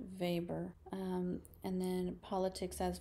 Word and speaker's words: Weber: V which is written out Weber but it's pronounced vber um and then Politics as vocation so he